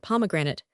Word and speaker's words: pomegranate: Pomegranate pronounced invariably pomegranate is a near enough rhyme to immigrant in a naturally rhyming country.